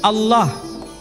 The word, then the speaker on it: Allah: Tidak ada seorang pun di kalangan masyarakat Timur Tengah ketika menjumpai istilah Alif, Lam, Lam, Ha dibaca Allah. Tetapi mereka serempak menyebutnya dengan pronunciation Allah.